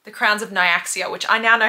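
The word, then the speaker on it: Nyaxia: like the series is called the crowns of naaia which I now know how to say cuz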